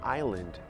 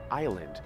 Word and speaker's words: island: E Manhattan é uma island, island. Eu sei que tem esse S aí, mas você vai perceber